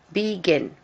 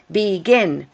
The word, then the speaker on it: begin: Begin. That has 2 or more syllables. And the stress is on the last syllable. It's begin, not begin, begin. So if we have 2